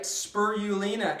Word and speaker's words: spirulina: This is spirulina. I said it right, spirulina.